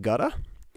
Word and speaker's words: Gouda: on the ground um i also learned that gouda pronounces his name gutta and i'm just refusing to acknowledge that i've ever learned that information he will be gouda forever to me demus plays meets and wins